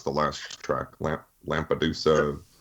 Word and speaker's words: Lampedusa: And first of all, how do you pronounce the last track, Lampedusa? Lampedusa, yeah.